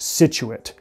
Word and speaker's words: Scituate: how to say this, I think it's pronounced Scituate, S-C-I-T-U-A-T-E.